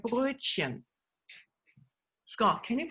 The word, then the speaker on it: Brötchen: And so we love bread and bread rolls like Brötchen. Scott, can you pronounce Brötchen for me?